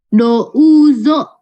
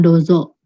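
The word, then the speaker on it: どうぞ: Douzo, itu douzo. Harusnya ya, bukan dozo.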